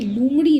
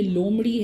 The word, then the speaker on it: لومڑی: اب اس میں دیکھیے یہ لفظ ہم اکثر غلط پروناؤنس کرتے ہیں, یہ لومڑی نہیں یہ لومڑی ہے کیونکہ واو کے اوپر کوئی پیش نہیں ہے یہاں پہ.